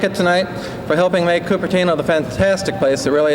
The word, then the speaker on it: Cupertino: together do you know the proper way to pronounce the name of our city well if you said coopera know you're wrong it's Cupertino although none of us will ever pronounce it that way but if you did